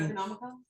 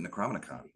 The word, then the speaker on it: Necronomicon: GM, you are absolutely I might have had So you say what do you how do you pronounce it? Necronomicon. Necronomicon. I've always pronounced it necromanicon. They're wrong.